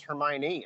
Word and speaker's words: Hermione: of like when i realized her name was hermione instead of her mind you know when i read that book originally